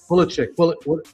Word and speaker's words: Pulisic: Pulisic. I'm saying his name wrong, right?